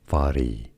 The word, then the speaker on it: Fari: Fari is how you say it.